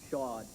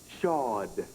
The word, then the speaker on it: Shaud: Tell me how to pronounce your name. Shaud. Shaud.